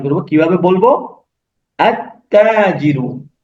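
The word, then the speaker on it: التاجر: আমরা লামকে বাদ দিয়ে সরাসরি তাতে চলে যাব এবং তাকে আমরা তাসদীদ দিয়ে পড়বো।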